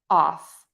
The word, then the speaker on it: off: Off, off.